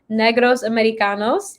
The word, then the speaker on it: Negros Americanos: We saw that Danielle actually was introduced by a college friend, MC Enigma of trilingual hip hop collective Negros Americanos. That's how you pronounce it, right?